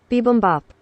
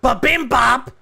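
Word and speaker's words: bibimbap: oh wait hang on BM Bop BM Bop it's not B Bop anyone know what B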